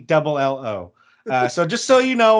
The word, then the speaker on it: Bello: And then it's Brayan for Brayan. It's Brayan. It's Bello, or Bello is Bello.